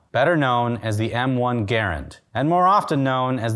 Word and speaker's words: Garand: c garand and there is strong evidence that garend is how he pronounced his last name it's a classic potato